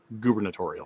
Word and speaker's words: gubernatorial: the two democratic candidates i'm going to get picky gubernatorial no uber yeah it's the government it's gubernatorial thank you that's a